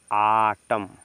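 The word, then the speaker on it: autumn: तो पढ़ेंगे इसको ऑटम ए यू को बताए थे ना ए के जस्ट बाद यू होगा तो आ पढ़ते हैं क्या पढ़ते हैं आ तो इसको क्या पढ़ेंगे आ ठीक है ना तो देखिए इसको रीड करेंगे ठीक है ना इसको पढ़ेंगे आटम आटम आटम मीस होता है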